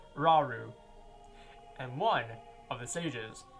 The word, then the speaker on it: Rauru: I, Rauru, that's how you pronounce his name, Rauru, and one of the sages, and your power